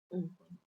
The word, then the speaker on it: Wagyu: It's actually pronounced Wagyu.